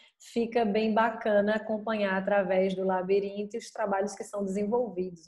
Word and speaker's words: Labirinto: Mas o Labirinto é Labirinto, o T é mudo, certo?